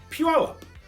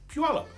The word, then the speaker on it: Puyallup: p u l up Puyallup the Pu is pronounced together like the Japanese pronunciation Pew this is what I've been told so Puyallup not that he's not